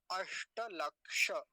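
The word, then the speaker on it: अष्टलक्ष: अष्ट लक्ष्य अष्ट लक्ष्य इसमें दो काम की बातें हैं यहां भी मूर्धन्य सकार है और इसमें तो मूर्धन्य सकार होता ही है आप सब लोग जानते होंगे है ना अष्ट लक्ष ऐसा फिर से सुनिए अष्ट लक्ष ऐसा वो जो दं सकार बोल देते ताल सकार बोल देते हैं इसके स्थान पर वैसे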